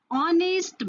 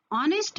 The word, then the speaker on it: honest: Similarly, if I say honest man, this honest man, but it is a consonant. It is starting with a consonant letter H. Here, H is silent and the sound is O.